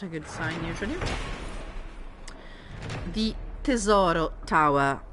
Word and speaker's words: Tesoro: The Tesoro Tower. That's actually an Italian word, so I'm going to pronounce it Italian style, not Tesoro, because it sounds ridiculous to my ears, obviously. So, Tesoro Tower.